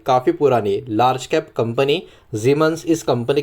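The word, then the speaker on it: Siemens: सामने दिख रहा है सीमंस ऐसा प्रोनाउंस करते होंगे, लेकिन एक्चुअली इसका जो जर्मन प्रोनाउंसिएशन है वो जीमंस के नाम से आपको देखने को मिलेगा।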